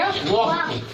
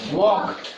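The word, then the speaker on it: walk: ये वॉल्क हो गया इसका। इसको पढ़ेंगे वॉक। क्या पढ़ेंगे? वॉक।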